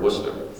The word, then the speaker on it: Worcester: Heist at the Worcester Car Museum Massachusetts we pronounced that word Worcester so have you ever been to Washington to